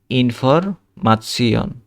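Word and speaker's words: Information: শনকে আমরা পড়বো শিয়ন, তারপরে ইনফরমাৎসিয়ন।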